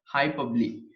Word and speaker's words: hyperbole: इसका प्रोनाउंस ऐसे होता है, प्रोनाउंसिएशन जो है hyperbole.